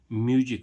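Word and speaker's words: music: एम यू एस आई सी म्यूजिक। म्यूजिक means क्या होता है? संगीत। अब देखो यहां पर भी एस यहां पर एस का उच्चारण क्या निकला? ज।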